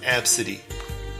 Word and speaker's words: Abcde: Her name may be Absidy, her name may be ABCDE, but it's pronounced Absidy.